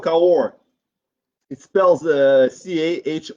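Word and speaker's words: Cahors: you see this so the reason is called car war it spells the CAH o RS horse but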